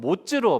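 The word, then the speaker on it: מוץ: 히브리어로 발음할 때 이 나무는 에츠, 또 겨는 모츠로 발음되거든요. 에츠와 모츠.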